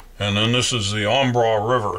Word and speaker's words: Embarras: bridge across there and then this is the ombra river it's spelled embarrassed but it's pronounced on bra and the way this bridge will actually be